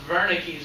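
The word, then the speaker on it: Wernicke: area called veres area that's a German name so it's pronounced veres area the sensory speech area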